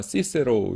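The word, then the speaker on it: Cicero: 왜 그러냐 하면은 그 라티 라인은 요 k 가 없어요 그래서 우리말을 키 크 발음을 쓰 이루었습니다 그래서 여러분 제이미 한 게 뭐예요 이거 뭐라고 있습니까 아 키케로 라고 하죠 로마의 그 문 인 어 키케로 라고 있는데 c 로 돼 있어요 스펠링이 그래서 라틴 어른 키케로 구요 어 영어를 이럴 때는 이나 이걸 쓰이니까 시세로 이렇게 될 발음대로 하고 그렇죠 그래서 어이 sdi 에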